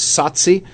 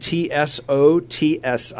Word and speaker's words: Tsotsi: The name of this movie is Tsotsi, which is spelled T-S-O-T-S-I.